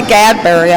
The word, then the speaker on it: Gadberry: I might have said his name wrong, but it's Charlie Gadberry if I messed it up the first time.